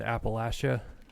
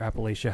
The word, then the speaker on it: Appalachia: century folklore comes from europe and appalachia or appalachia however you care to pronounce it and the the